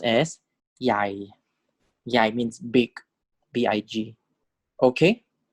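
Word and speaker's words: ใหญ่: This is pronounced as Yai.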